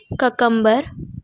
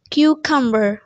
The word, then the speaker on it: cucumber: मैंने बहुत सारे लोगों से सुना है ककम्बर या कुकम्बर, बट the correct pronunciation is क्यूकम्बर. क्यूकम्बर.